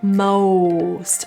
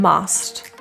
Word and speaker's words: most: with this word most spelling of O is always tricky but in this case the rounding lips is your answer Mo most rather than must us the U is